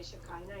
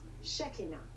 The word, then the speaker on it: Shekinah: I know how Shekinah yeah some people say Shekinah in the United States but the correct pronunciation is shaky now yeah maybe it's messy ox oh I'm sorry